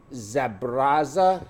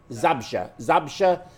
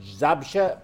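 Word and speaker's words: Zabrze: It was a heart transplant operation, and it was done in Poland, in Zabraza. How you say it? Zabsha. That's right, Zabsha, Poland.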